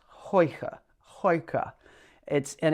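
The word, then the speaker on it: Huyghe: The brewery is pronounced Hoi ha, Hoi ha.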